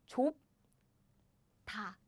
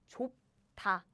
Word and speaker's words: 좁다: 좁다, 좁다. Now my smart students know the secret. 좁. Aha, I block the air with my lip. 좁. So naturally, the next sounds become super strong like this.